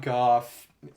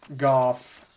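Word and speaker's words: Gough: The weird thing about Goff, his name is spelled G-O-U-G-H, but it's pronounced Goff, like cough, is that, well, I guess we can buy these.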